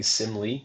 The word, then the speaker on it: Simly: Simil? Yeah, so it's basically Simly. So it's kind of a play on simulate.